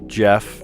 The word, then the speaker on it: Geoff: Or Jeff, but it's Geoff.